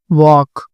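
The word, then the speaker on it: walk: कॉम B silent होगा वॉक L silent होगा तो यहां पर एक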